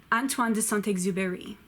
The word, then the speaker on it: Antoine de Saint-Exupéry: on Tuan do salt x ii pay hey Antoine de saint-exupéry Albert can you uh bad gap me Albert